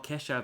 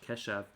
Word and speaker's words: Keshav: Oh, Keshav Maharaj. Not Kedav Maharaj. Keshav. Well, Smangaliso Nlebala.